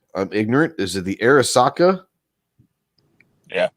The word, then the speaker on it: Arisaka: And I might mispronounce this. I'm ignorant. Is it the Arisaka? Yeah, Arisaka.